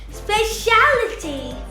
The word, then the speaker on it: speciality: When we come across words ending in ity or ity, we put the stress or place the accent before the syllable.